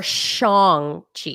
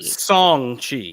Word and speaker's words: Shang-Chi: pronounced wrong is it song chi or shong chi song chi so there's you leave the h out okay i've heard it's